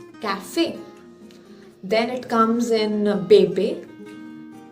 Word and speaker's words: café: For instance, in the word like café, C-A-F-E, accent aigu. So it gives us the sound of A, café.